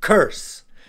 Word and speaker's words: curse: very bad it's harmful to someone and the pronunciation is curse these are some examples of curses for example